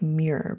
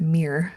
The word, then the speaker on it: Muir: My friend taught me that the John, it looks like Muir, but she said you pronounce it Muir.